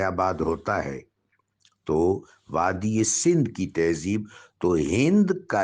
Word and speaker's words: سندھ: ہند کی طرف سے، یہ جو ہند ہے اس کا صحیح جو اجرائی تلفظ ہے وہ سندھ ہے، سندھ۔ سین جس وقت آگے ادھر وسط ہند میں جاتا ہے تو سین کو ہے سے بدل دیتے ہیں، صحیح تلفظ سندھ ہے، اور آگے پھر ہندی زبان کی ترکیب میں اس کو ہند کہہ دیا گیا ہے۔ یہاں جو پرانی تہذیب